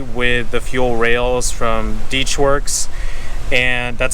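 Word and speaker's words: DeatschWerks: So I just plugged these in to make it plug and play with the fuel rails from Deechworks, and that's how you pronounce it, by the way, Deechworks.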